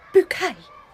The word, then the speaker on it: Bucket: Oh, a Bucket Fair School. I've heard lovely things about that place. It is pronounced bouquet. It's pronounced bucket.